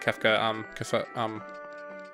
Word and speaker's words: Kefka: Or not Kefka, Cafe?